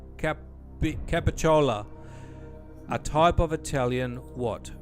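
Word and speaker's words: capicola: A staple in mob movie meals, Gabbagool, is one pronunciation of capicciola, a type of Italian what?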